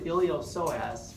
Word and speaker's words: iliopsoas: The only one on your list is two muscles, the iliopsoas, which is two muscles in one. So let's call this posterior abdominal wall. Iliopsoas. The P is silent.